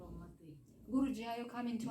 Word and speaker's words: Алматы: Нет, там переводится алма — это яблоко, алматы — яблоневый. Ну, Алма-Ата. Алма-Ата — это русское произношение. Алматы.